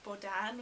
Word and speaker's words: Bohdan: have is Bohdan, and I think English speakers would say Bohdan, and I do think that it is usable in English-speaking countries if it is pronounced Bohdan. I don't think many people would pronounce it Bohdan, which is the Ukrainian pronunciation, and it's the Ukrainian